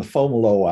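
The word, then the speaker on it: Fomalhaut: and they always called uh this season the fomolo hour it's a way south thing and it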